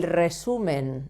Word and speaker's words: resumen: This sound is the sound of double R, even if there isn't a double R.